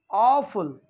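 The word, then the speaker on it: awful: इसी तरह से नेक्स्ट वर्ड यहां पर हमने लिया है ऑफुल। देखिए वर्ड बहुत इंपॉर्टेंट है, ए और डब्ल्यू का कॉम्बिनेशन जब आता है तो हम उसे ऑ प्रोनाउंसिएशन करते हैं, ऑ से प्रोनाउंसिएट करते हैं।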